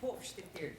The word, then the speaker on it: Hofstetter: O S é com som de X. Hofstetter. Ou Hofstetter. Ela que é delegada da mulher aqui em Londrina. Olá, doutora, tudo bem? Chega pra cá, vamos lá. Pronunciei certo dessa vez ou não? Quase, é Hofstetter. Hofstetter. Aí tem som de não, I. Não tem o T, é o Teter. Hofstetter.